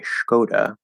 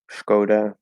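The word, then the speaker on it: Škoda: i've never heard of so obviously there's an s so i might say skoda but because there's a strange little symbol and i have no idea how that affects the pronunciation my natural inclination is to try to change it into an sh which is probably wrong and say skoda and then that last one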